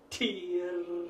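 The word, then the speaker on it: Tyr: When lowering the straight arms, pronounce the mantra, tier, and you strongly pronounce the T, and that gets the consciousness into activity.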